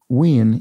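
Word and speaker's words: wean: familiar to this scotsman ween yes w-e-a-n which comes from we yin and uh indeed win would be the the closer sort of scots scott's english um uh term and i i made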